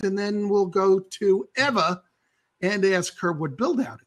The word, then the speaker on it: Ewa: So my name is EWA, but the W is pronounced like a V. So it's Eva.